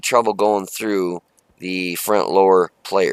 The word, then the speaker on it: Lowe: lve I don't want they call it the lur I call it the low l o w e low but everybody pronounces it l Zer she's a bad ass